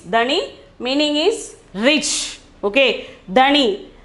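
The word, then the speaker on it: धनी: then 25th one is dhani dhani the pronunciation is dani meaning is rich okay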